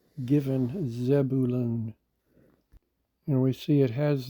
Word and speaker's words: Zebulun: vav noon zab Buruon most closely matches the pronunciation given Zebulun and we see it has the meaning exalted